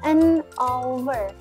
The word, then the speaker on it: hour: Huruf awalnya huruf H. Berarti kalau huruf H tapi bacanya bukan H tapi O. Berarti huruf awalnya adalah huruf H konsonan, bacanya vokal. Berarti menggunakan apa? An hour.